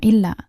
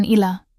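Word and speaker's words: إلا: Penekanan pada kata illa ini sangat penting untuk menegaskan pengecualian tersebut. Jadi pastikan saat melafalkannya, ada penekanan yang jelas pada huruf lam. Illa. Bukan ila.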